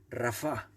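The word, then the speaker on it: רָפָה: dice no seáis negligentes esa palabra es rafa con acento en la última así no diría rafa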